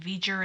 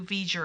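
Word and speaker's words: V'Ger: the reveal of who veger is he spelled it v-e-j-u-r exactly as it sounds so he he spelled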